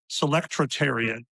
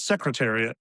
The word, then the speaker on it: Selectariat: Selectariat. It's not secretariat. I don't know why. It's a weird sound. It's like just close to the horse, you know, but but not quite, but Selectariat is how I said it, I think.